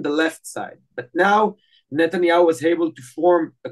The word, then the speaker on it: Netanyahu: and this process has started uh with Benin Netanyahu a long time Israeli Prime Minister after returning